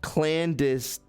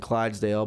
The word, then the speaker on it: clandestine: So, this is, pronounced clandestine. Okay, my bad, man. I'm like basically saying Clydesdale, but it's okay.